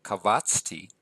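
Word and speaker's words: קָבַצְתִּי: Notice the accent is telling us that the second to last syllable is accented. So kavatsti.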